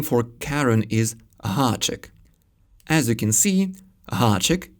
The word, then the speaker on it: háček: The Czech name for Karen is háček. As you can see, háček is spelled with a háček.